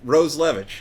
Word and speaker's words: Roslewicz: So first thing, what is the proper pronunciation of your name? Perfect. It's called. No, the other one. Oh, Roslewicz.